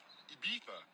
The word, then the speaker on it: Ibiza: I just went to Spain, that's a Ibiza. Ibiza. Yeah, it's pronounced Ibiza, actually. What's the difference, man?